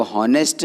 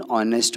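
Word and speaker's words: honest: तो इसमें एच से स्टार्ट तो हो रहा है ऑनेस्ट मैन, एच से स्टार्ट हो रहा है ऑनेस्ट, लेकिन एच साइलेंट है, उसको साउंड में नहीं ले रहे हैं, राइट? वो हॉनेस्ट ना होते हुए क्या है? ऑनेस्ट, इसलिए उसमें एन लगाया हमने, एन ऑनेस्ट मैन।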